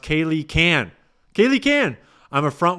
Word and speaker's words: Kaylee K-Ann: Kaylee K-Ann. It's pronounced Kaylee Can.